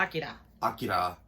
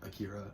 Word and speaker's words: Akira: Akira. If you want to be super proper, but most people just pronounce it Akira, so we're probably going to call it that for.